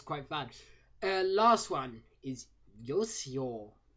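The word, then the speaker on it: Uyo: Last one is Yosio. Now, this should just be the word you because it's spelled U-Y-O instead of Y-O-U.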